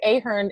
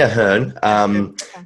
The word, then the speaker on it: Ahern: I always say Ahern in my head, but I think you say Ahern. How do you pronounce it? I say Ahern because that is the way to say it, I suppose.